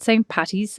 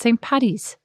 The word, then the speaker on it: Paddy's: And then I heard from Kerry with Irish heritage that some people pronounce it St. Patty's and some people pronounce it St. Paddy's. Well, they're incorrect.